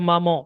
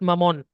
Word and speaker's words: maman: so here we have maman, not mamon. Maman. Okay. While pronouncing, your tongue won't be touching the upper palate. There'll be a nasal voice, maman, at the end.